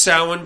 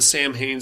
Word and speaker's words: Samhain: okay it's called the it's pronounced salmon but I'm just going to call it the Samhain slasher um this one I